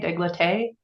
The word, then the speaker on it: décolleté: Is that how you say it? Décolleté? Décolleté. Yep. Décolleté. Oh, so close. Yep. Décolleté. Décolleté.